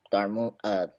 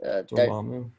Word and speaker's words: Dormammu: bad guy is gonna be Mephisto or or Darmo yeah Dormammu. I Mm-hmm. can't I can't say his name. His name is Dormammu.